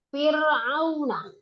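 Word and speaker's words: فرعون: Ra sukun yang sukunnya adalah asli, setelah kasroh asli dan tidak ada setelahnya itu huruf isti'la. Fir'aun itu roknya kan sukun. Nah, kemudian sebelum rok ada hak berharakat kasroh. Dan kasrohnya fi itu adalah asli. Ya, bukan aib, kasroh asli.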